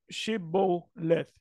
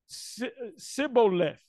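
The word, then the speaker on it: Shibboleth: Then said they unto him, "Say now," and I'm a reading in the Hebrew, Shiboleth. And he said, which was an Ephraimite, Siboleth, for he could not frame to pronounce it right, dialects.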